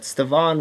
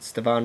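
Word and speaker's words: Stevan: card of stephen ridley is it steven how they pronounce that stavan ridley i think this is how you pronounce it stevonn ridley on card auto numbered 11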